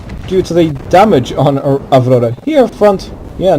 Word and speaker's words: Avrora: well, if you want to go for the Russian pronunciation, Avrora is not in good shape.